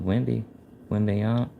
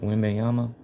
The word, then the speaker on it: Wembanyama: Oh, there's a magician of Wembanyama. How do you say that? Wembanyama.